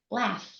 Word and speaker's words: laugh: A great example is the word laugh, Laugh. which Oh, I pronounce like Laff.